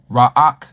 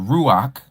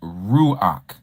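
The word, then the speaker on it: רוח: And some of you say raak instead of ruach. It's not raak. It's ruach. Okay. Remember pronunciation.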